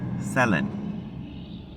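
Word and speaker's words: Céline: Dion, but her name is not Seline, it's Selen. She says her name Selin.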